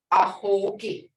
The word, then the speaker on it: ahogi: Doorway, ahogi. Ahogi. Hear that? Ahogi, not long, but ahogi. Because if you said the long sound, you would say ahogi. That ain't right. It's ahogi.